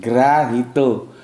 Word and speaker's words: Grahito: Nah, begini, Grahito. Sebetulnya ini bukan O bacanya, O. Grahito. Karena ini Jawa, nggak ada O.